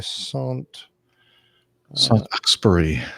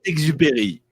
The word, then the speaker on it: Saint-Exupéry: I was just trying to copy the Wikipedia address for Antoine de Saint-Exupéry. Saint-Exupéry. Exupéry. I don't know. Josene's going to have to send in the actual pronunciation.